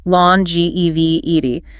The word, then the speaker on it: longevity: got it then longevity focus on pronunciation lawn ge vie and meaning lasting a